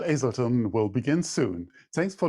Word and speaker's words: Azelton: 33 minutes with crystal hazelton hazelton now i i pronounce the age damn it with crystal azelton will begin soon thanks